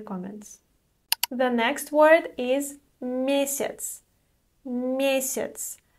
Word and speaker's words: месяц: The next word is месяц. Месяц. Note that the letter Я is pronounced as И here.